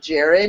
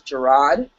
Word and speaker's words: Gerard: Just like Gerard, it's not Jared, it's Gerard, which a lot of people don't really notice either.